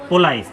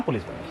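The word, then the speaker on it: police: इसका जो सही प्रोनाउंसिएशन अगर इंग्लिश के हिसाब से करेंगे तो क्या आएगा? पोलाइस। लेकिन यहां पे हम फ्रेंच भाषा के हिसाब से लिया हुआ है। अंग्रेजी भाषा में। है ना? और फ्रेंच भाषा के हिसाब से ही बोलते हैं। ठीक है? तो क्या बोलते हैं? उसको क्या बोलेंगे हम? पुलिस।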